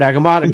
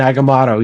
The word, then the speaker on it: Agamotto: do a little, and it's like a 4-syllable word, Agamotto.